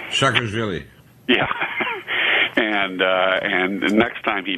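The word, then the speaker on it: Saakashvili: And Putin threatened to hang, how do you pronounce his name? Shakarvili.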